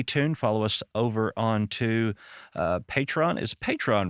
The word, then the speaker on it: Patreon: Follow us over onto Patreon. Is Patreon, right? I always say it wrong. I think that's the southern pronunciation. Patreon. Yeah. I wanted to say Patron, but I know that's not right.